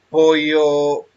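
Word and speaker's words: ποιέω: Se pronuncia poieo.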